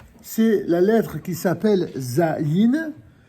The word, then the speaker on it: Zayin: Et comme cela est écrit d'ailleurs dans le bouquin, c'est la lettre qui s'appelle Zayin. Elle se prononce Z.